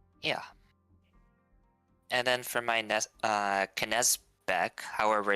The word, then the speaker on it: Knesebeck: And then for my Knezbeck, however it's supposed to be pronounced, just clip Actually, that it's subkill. actually in German it sounds like Knesebeck.